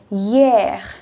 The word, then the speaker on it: hier: Yesterday was hier.